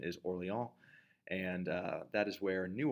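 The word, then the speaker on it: Orléans: at the siege of Orleans the the French pronunciation is orally on and that is where New Orleans comes from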